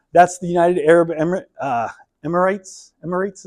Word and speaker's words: Emirates: Emirates is how you pronounce that.